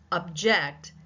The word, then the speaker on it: object: But if I were to say to object as in a court of law, object, the second syllable becomes the primary stress syllable.